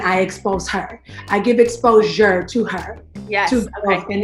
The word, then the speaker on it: ExposHer: Okay, so like the shirt say, it's spelled ExposHer, right? But it's exposure.